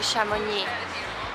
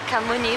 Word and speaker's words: Chamonix: you to chamonix and be careful when you pronounce it because if you pronounce it anywhere different I pronounce it kamuni before and they had no clue what I'm talking about so yeah it's a bus to chamoni so guys we have